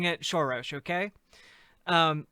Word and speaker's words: Soros: how gif is supposed to be pronounced jiff george soros look disco rap when george soros sends me the check i'll start i'll start pronouncing it shorosh okay um like i i'll i'll start respecting